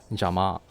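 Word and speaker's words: 邪魔: The word for interfering is jama in Japanese, which sounds similar to the word jammer, which is pronounced in Japanese as jama.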